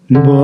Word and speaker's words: Baruch: la interpretación puede ser la primera sílaba fuerte y la segunda sílaba suave. Por ejemplo, con la palabra Baruch, bendito. Baruch. Sí, la primera fuerte.